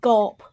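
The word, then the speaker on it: Grawp: I've always pronounced it Gorp, but there is an R in there.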